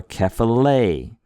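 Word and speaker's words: κεφαλή: Or kephale. Kephale, the word for head. We put a little more oomph on that last syllable.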